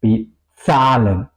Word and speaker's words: bezahlen: En alemán no se dice zebra o esa palabra bezahlen, ¿ok? Pagar. No se dice bezahlen, se dice bezahlen. La lengua tiene contacto con los dientes y con el paladar.